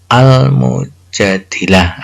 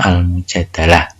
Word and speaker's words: Al-Mujadilah: Ini di sini adalah Al-Quran surah Al-Mujadilah, atau ada yang menyebutnya Al-Mujadalah.